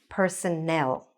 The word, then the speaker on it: personnel: So the correct answer is personnel.